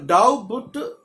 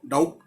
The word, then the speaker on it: doubt: तो डाउबट तो नहीं बोलेंगे, अब क्या हम इसको डाउट, अब अंग्रेज जब अंग्रेजी